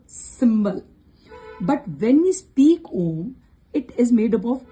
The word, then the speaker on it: Om: But when we speak Om, it is made up of two syllables. But when we chant, the sound is made up of three syllables: A U M.